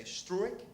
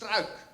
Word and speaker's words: Struik: Okay, for an English speaker, it's very natural to think that U and I are two vowels, so you say struik. But in Dutch, UI is just one vowel combination, so it's pronounced struik.